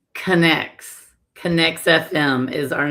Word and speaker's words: Connex: How do you say the association's name correctly? It is Oh, Tammy go. It's Connects.